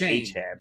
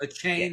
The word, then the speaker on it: Etienne: now, even though we all know him as H-Han. A chain is how you pronounce it. A chain.